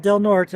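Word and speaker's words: Del Norte: it into um delort they call it delort even though it's spelled delte I've actually been here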